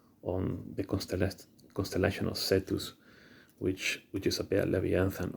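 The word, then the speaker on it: Cetus: a constellation in the sky the constellation of setus it's spelled c e t u s setus is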